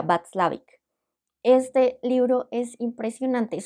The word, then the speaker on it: Watzlawick: Se escribe Václavic, pero pues por el tipo de idioma que creería que es o alemán o polaco, sería Václavic.